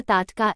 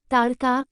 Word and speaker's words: ताटका: इसका नाम था ताटका। इसके नाम का उच्चारण ताड़का भी मिलता है।